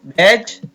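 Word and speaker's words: wedge: और हमने इस वीडियो में देखा कि कुछ शब्दों में डी के तुरंत बाद अगर जी आता है तो हम डी का उच्चारण नहीं करते हैं। वे शब्द कौन है? एक बार पूरा देख लेते हैं। वेज, एज, वेज, बज, स्मज,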